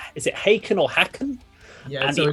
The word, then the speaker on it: Haken: heard of this band yeah um so it's pronounced haken these along with tesserites are the Giants of